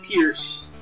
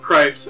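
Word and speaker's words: Pryce: Let's fight Pierce. I mean, this strange man who we've never heard of before. Oh, Price. Okay. Have I seriously been pronouncing that wrong this whole time?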